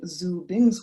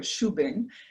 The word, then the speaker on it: Xu Bing: it out for example if i was citing zoo bing's work i'd say his name sorry shubing and then spell it